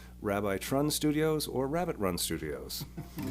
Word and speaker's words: RabbiTrun: That's Rabbi Trun, Trun, and other people may pronounce it as Rabbit Run Studios.